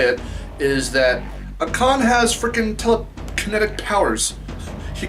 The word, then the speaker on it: Akan: spelled like, I think, A-K-A-N, so it's like Akan, I think it's Akan. I was gonna say like Akon, like the Akon. No, Akan, I think is how you pronounce his name.